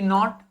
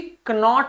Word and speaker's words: knot: और मैंने आपको प्रोनाउंसिएशन वाली क्लास में बच्चों आपको बताया था कि KN को हम ना ही प्रोनाउंस करते हैं। KN को हम कभी भी कनॉट नहीं बोलते।